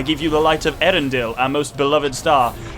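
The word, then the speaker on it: Eärendil: you the light of erendill our most beloved star it's a arendelle and he puts two little dots on the a specifically to tell you that the a and the e are both pronounced is literally what that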